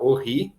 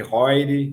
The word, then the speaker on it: Heuri: Meu nome é Horry, né? É um sobrenome suíço. Essa é a pronúncia francesa, tem também Roire, né? A Suíça é um país aí com muitas línguas. Mas o pessoal no Brasil fala Eury, e that's fine, não tem problema nenhum.